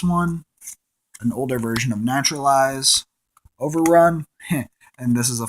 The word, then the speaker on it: Naturalize: to say it um most people say it neutralize it's actually called naturalize it costs two to